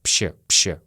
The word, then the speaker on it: вообще: Мы очень часто произносим как «вообще». Вообще, я вообще не понимаю эту русскую грамматику. Я вообще не понимаю это правило. Пще.